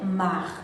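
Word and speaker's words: Saint-Marc: le final de vienne muet on dit c'est marc je reprends le nord et ses marques c'est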